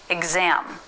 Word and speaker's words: exam: But there's also a voiced pronunciation, like in the word exam. The letter X still represents 2 sounds here. What sounds are you hearing now? Exam. I'll pronounce it slowly. Exam. G and Z.